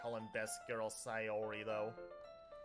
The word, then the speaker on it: Sayori: Monica is close enough natsuki is pronounced natsuki and sayori is sayori uh Yu-Gi-Oh is a